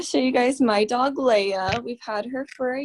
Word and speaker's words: Leia: Did you say her name is Leia, like Princess Leia?